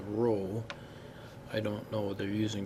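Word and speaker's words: ρ: Little p and pronounce a rho.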